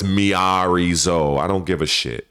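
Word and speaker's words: Miary Zo: a role-playing game character by the name of Mary Sue. I know how you pronounce the name.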